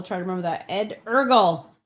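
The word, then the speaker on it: Eargl: and he clarified that the last name is ergl so i will try to remember that ed ergle it's meredith pronunced learning the name night project zero guys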